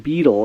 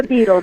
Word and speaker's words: Beadle: who know you as miss beetle is that am i pronouncing that correctly that's right it's eva beedle b-e-a-d-l-e from little house on